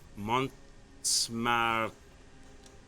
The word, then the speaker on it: Montmartre: Go to the quarries of Montmartre.